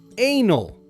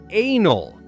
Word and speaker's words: anal: The correct way is anal. Start with a like the letter A and finish with a soft null.